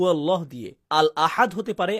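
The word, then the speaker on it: الله: তাছাড়া লাম এবং আলিফ এর উচ্চারণ একত্রে কখনো ভারী হয় না। আলিফ এর পর লাম আসলে তার উপর তাশদিদ দেয়া হলে উচ্চারণ হবে আল্লাহ হালকা উচ্চারণে। কিন্তু আল্লাহ যখন বলি এর উচ্চারণ কেমন হয়? আল্লাহ। আমরা ভারী উচ্চারণ করি। এই শব্দটির জন্য আরবি ভাষার নিয়ম ভেঙে ফেলি।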